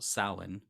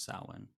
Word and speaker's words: Samhain: holiday that we call Samhain. It's pronounced a little differently than it's spelled, thanks to the Gaelic roots.